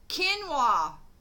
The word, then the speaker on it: quinoa: And it's not Kanye, but I know what it is. I just can't get the pronunciation for it. Quinoa.